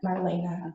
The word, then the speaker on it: Marlene: your name Marlena Marlene Marlene or Marlena Marlena okay it's spelled like Marlene awesome that's exciting can